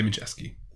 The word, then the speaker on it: Majewski: We say Majewski. Oh, Yeah, but what was the Polish? I think it was Majewski.